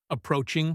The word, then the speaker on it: approaching: The word approaching is long. In a fast announcement, the middle syllable gets stressed, and the start and end disappear. It sounds like approaching. The train is approaching platform 4. If you are waiting to hear the A in approaching, you might miss the number.